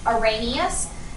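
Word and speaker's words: Arrhenius: of those theories there's the oranus theory that's how this word's pron pronounced oranus and then there's the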